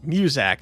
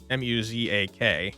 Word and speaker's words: Muzak: Muzak, I believe it's pronounced. M-U-Z-A-K, right? Muzak.